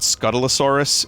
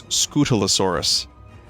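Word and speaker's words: Scutellosaurus: i was correct so i said scuttle asaurus it's scootalosaurus skeletosaurus um scalidosaurus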